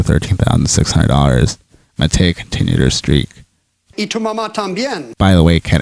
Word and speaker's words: y tu mamá también: Y tu mamá también. By the way, Ken, it's pronounced y tu mamá también.